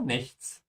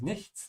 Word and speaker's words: nichts: form becomes der oh nichts oh nothing careful with the end s here this is nichts not nicht not the same.